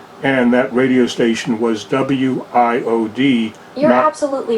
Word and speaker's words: WIOD: You read them separately, like you said. Well, as an example, WIOD that's the way you would mention the station.